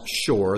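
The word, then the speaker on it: שור: refer to these as the ox Ox is pronounced Shore there it is in Hebrew and its pronunciation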